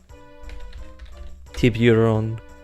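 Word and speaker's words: Tiburón: Project Naga team, with Tiburon, or at least as you saw earlier, there's an accent on the O. It's just the Spanish word for shark.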